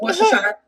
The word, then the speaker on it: Worcestershire: It's pronounced Worcestershire.